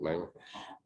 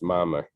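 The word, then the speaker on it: מאמר: Mem, Aleph, Mem Resh, like a mimer, like a Hasidic mimer, but it's pronounced Mamar.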